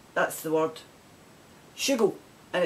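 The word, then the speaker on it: schoogle: right that's the word shugo and it's it's spell s-c-h-o-o-g-l-e and it's pronounced shoe gull tell me if you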